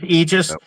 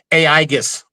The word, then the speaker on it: Aegis: are acceptable pronunciations, but we go with eegis just as long as, and I'm not going to call the guy out. He's from a state down south that they think they're the best of everybody and everything. We are the best of everything and everything. He talked about our product a couple years ago on a podcast and he kept calling us AIGUS.